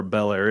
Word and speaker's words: Bel Air: You even know where Bel Air is? Am I You're pronouncing home to that Bel right?